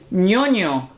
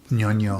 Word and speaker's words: ñoño: Ñoño. Ñoño. Ñoño. New. The Ñ is the sound that we have when we say onion.